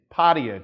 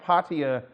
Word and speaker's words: Pattaya: It's Pattaya to me. That's how I would say it. But I know there's no D's in there, so, I know that throws people off.